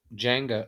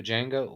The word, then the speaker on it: Django: you know yeah i ain't just watched uh jenga oh django what how you say it oh yeah there's